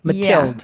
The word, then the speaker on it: Mathilde: my guest today is Matilda I got Matilda right yeah not Mathilde Mathilde Mathilde and it's hard that the D is